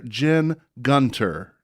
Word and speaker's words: Jen Gunter: Manifesto again to the listeners it is Dr Jen Gunter this episode is sponsored by well-balanced nutrition and